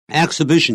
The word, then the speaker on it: exhibition: Exhibition 也是名词 E-X-H-I-B-I-G-I-O-N. X 那个 H 就不发音了 Exhibition 或是